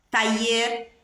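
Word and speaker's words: taller: povo exercido Ok depende da pronúncia aí dos dois Ls depende do país da região do país você vai pronunciar essa letra de uma maneira diferente então tá ali é taier tá mecânico então um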